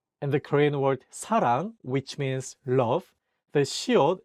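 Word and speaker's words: 사랑: hear how they sound and the Korean word Sarang which means love The Shield is at the beginning of the word therefore is pronounced as SU here's an example with Shield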